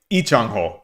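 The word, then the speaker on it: Lee Changho: Lie Chango. Lie Changho. Thank you. Thank you, Zan. Canon actually. Ichango. Ichango. Yeah. Just so Just so I can try to pronounce that a little better.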